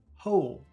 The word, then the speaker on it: hole: Can you hear the difference between number one, howl, and number two, hole?